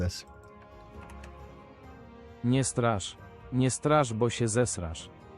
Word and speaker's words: Nie strasz: Okay, let's see how to actually pronounce this. Nie strasz.